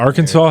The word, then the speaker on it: Arkansas: Arkansas has an S at the end of it, but it's not pronounced. I think that's kind of a big feat. Whoa. What an interesting fact about Arkansas.